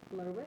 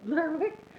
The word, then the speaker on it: Lerwick: Are you from Lerwick? Lerwick? Well, I keep thinking to myself, it sounds like the wizard's name, Kelric. I'm like, but it's not Kelric. It rhymes with Kelric.